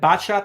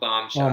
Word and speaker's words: Botshot: And Botshot is 9 p.m., not 9:30. My apologies. Bomb shot. It's bot shot, not bomb shot.